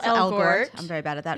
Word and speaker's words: Elgort: Well, we knew I'm always saying his name wrong. Ansel Elgort. Elgort.